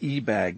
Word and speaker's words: Ebag: secret history of the e-bag marriage is now printed for the first time the ebag family who prefer their name to be accented on the first syllable once almost ruled old